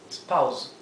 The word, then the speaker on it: spouse: Spouse. Spouse. La s final suena vibrada. Z, como el zumbido de una abeja.